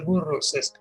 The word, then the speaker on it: Burroughs: Se escribe Burroughs, pues se pronuncia Burroughs.